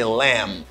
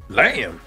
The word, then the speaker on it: lamb: Et puis, pour bébé là, c'est lamb. Lamb. B a pas prononcé dans mot ça.